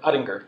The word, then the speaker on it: Ottinger: Is it Ottinger or? Ottinger. Ottinger, okay. Yeah. I've always seen it spelled and never pronounced. So how's camp?